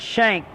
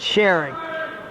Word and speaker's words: Shank: shank shank Eli and shank Carter shank not Sher they had the wrong pronunciation is Eli's brother used to